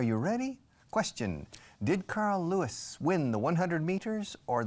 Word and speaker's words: Lewis: In fact, the name Luis in English, Lewis, y Lewis, como Jerry Lewis, is pronounced the same, Lewis.